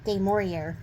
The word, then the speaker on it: du Maurier: How do you pronounce it? du Maurier.